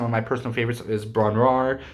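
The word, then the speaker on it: Bron-Yr-Aur: my personal favorites is braun raar that's how it's pronounced um or bond year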